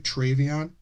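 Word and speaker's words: Treveon: Did I pronounce it right? Travion.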